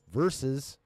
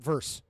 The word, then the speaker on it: versus: We're talking Beau DeMayo versus, that's right, it's actually a 2-syllable word, motherfuckers. It's versus, not verse.